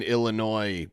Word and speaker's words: Illinois: The S is silent in Illinois, Brett.